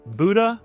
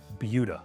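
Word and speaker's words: Buda: And if you're looking to move to a suburb just south of Austin, it looks like it might be Buddha. It's Butuda.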